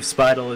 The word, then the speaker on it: Speidel: I think I'm saying it right. I believe Speidel is correct.